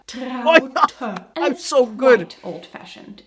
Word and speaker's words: Traute: You'd pronounce that trout, Americans, wouldn't you? Elk, wolf, trout. Hey, soon we can open our own mispronounced German names zoo. Similar to Traute. Elke, the correct way of saying this is Traute.